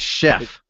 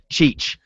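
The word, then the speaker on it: Szefc: go now you're closing so is shasha that's chef chef chef john chef yeah he said the worst it was ever pronounced was back when he was a player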